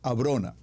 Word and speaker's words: Abrona: Abrona. Atención con la pronunciación, Abrona.